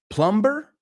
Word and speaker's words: plumber: So fontaneros, plumber, ¿la B se pronuncia? Pregunto. Plumber. La B es muda.